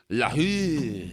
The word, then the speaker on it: LaRue: LaRue.